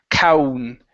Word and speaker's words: count: Make sure to pronounce the N right here. So count. count on my count. On my count. Okay. So, this is you want to uh open up wide. Out. Count. Count. Good. Yes. Because if you do not pronounce that and you pronounce an uh sound, that is a very very bad word.